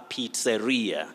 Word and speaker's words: pizzeria: pronunciation of that word you say pizza but a restaurant or a restaurant that serves mainly pizzas you say that is a pizzeria pizza pizzeria correct pizza pizzeria pizza rio